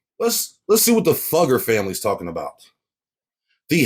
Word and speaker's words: Fugger: Let's Let's see what the Fugger family is talking about. The House of Fugger. German pronunciation. Fuga. Fuga.